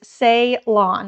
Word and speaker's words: Ceylon: It is Ceylon, like S-A-Y, only it's C-E-Y.